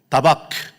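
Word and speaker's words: דבק: 붙쫓는다.이 붙쫓나 붙쫓는다라는이 발음보다도 오히려 히브리어 발음이 오히려 입에 더 잘 붙어실 거예요. 다바크입니다. 같이 해 보시죠. 다바크.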